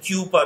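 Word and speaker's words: Kuper: encyclopedia edited by adam cooper k-u-p-e-r and jessica cooper k-u-p-e-r some people pronounce has cuber also do not get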